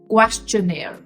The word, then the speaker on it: questionnaire: way we pronounce m similarly we're going to pronounce n a i that is na so question question questionnaire questioner so how would you say in the